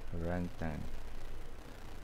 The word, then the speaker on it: orangutan: Orangutan. Orangutan. The G, it's not pronounced.